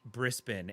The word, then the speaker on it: Brisbane: Australians to know that to mispronounce Brisbane, Brisbane as Brisbane is is like something that bothers every single Australian I've ever I've ever spoken to. They all feel the need to let you know that it's pronounced Brispen.